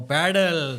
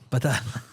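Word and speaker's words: padel: Oh, paddle. Paddas told us about paddle. You're saying it wrong. Pal paddal.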